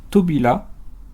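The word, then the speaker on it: 扉: Il se prononce tobila et signifie porte.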